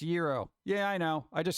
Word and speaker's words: gyro: comes up to me asking for a gyro you know it's pronounced Euro they'll be like bleep